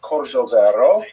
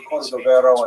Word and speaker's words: Cordovero: It's a Portuguese spelling, but it's kind of a strange thing to pronounce in Hebrew, so it was sort of mangled into Cordovero, and that has become the standard, even though it is probably not correct.